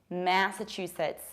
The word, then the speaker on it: Massachusetts: I don't say ma, I say ma. Massachusetts. Massachusetts, you push the first syllable.